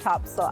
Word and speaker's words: Topsail: very south end of Topsail Island now it's Topsail even though it's spelled top sales so make sure when